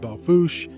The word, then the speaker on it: Belle Fourche: heading towards belfoush and for whatever reason it's pronounced belfoush looks like they'll force a to me but i don't speak